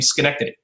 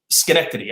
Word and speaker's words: Schenectady: for me i could didn't know how to pronounce the name schenectady i remember asking someone how do you use how do you say this s-c-h-e schenectady up well but from there from there it